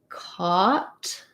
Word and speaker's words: caught: vowel schwa and then caught is vowel ah we weren't talking about that just now but we can that i think of as ah like saw or law a w so the cut is